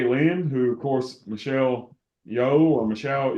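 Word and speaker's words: Yeoh: who of course Michelle yo or Michelle ya how do you say it C I think it's yo okay Michelle yo um yeah I think I think it's like yo I I don't know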